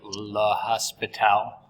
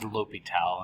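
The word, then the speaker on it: L'Hôpital: ly toal's rule uh some math books add an S into his name uh so you might hear students say la Hospital uh but it's pronounced lital and I don't even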